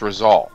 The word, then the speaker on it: Rizal: And yeah, how do you pronounce his name? Mr. Merkel? That's whose name? Rizal. Your dad? Rizal. Rizal. Okay. There you go. It's Rizal.